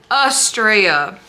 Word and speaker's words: Astrea: Okay, Astrea. Okay? That's how we say it.